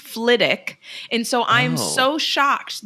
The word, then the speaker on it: Flitwick: the same way as Flitwick but it is pronounced Fick and so I'm so shocked that they that he reads the book and says Flitwick and not ftic because I'm like that has